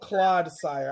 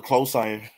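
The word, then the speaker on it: Clodsire: I thought it was Claude Sire. Like Claude, a Claude of Mud.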